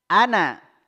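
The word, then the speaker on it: أنا: pula kita membaca ya makanya dikasih tanda di situ Ana pendek ya wala Ana ya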